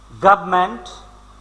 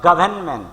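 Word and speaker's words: government: গভর্নমেন্ট বা গভর্নমেন্ট দুরকম উচ্চারণ হয়। গভর্নমেন্ট সেক্ষেত্রে আর এবং এন সাইলেন্ট, অথবা শুধু আর সাইলেন্ট রেখে উচ্চারণটা হয় গভর্নমেন্ট সরকার।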